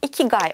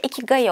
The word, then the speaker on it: ikigai: ederim Şimdi devam edelim Japonlar bunu iki gay olarak telaffuz ediyor ama sanırım Türkçeye iki gayı olarak geçmiş Ben de öyle bahsetmeye devam edeceğim umarım yanlış bir telaffuz değildir ve bu video boyunca